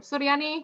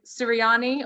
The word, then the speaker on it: Suryani: from suryani to yanni purely because people couldn't say my name it really annoyed me that people couldn't say me they're say my name there'll be siriyani or syrian striana um siriani that was the worst one um and they'd say